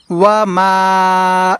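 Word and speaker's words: وَمَا: তারপরে ওয়া মা, ওয়া মা, এই মা এখানে আমাদেরকে টেনে পড়তে হবে, ওয়া মা আনা, আনা মিনাল মুশরিকিন, মিনাল, মিনাল মুশরিকিন।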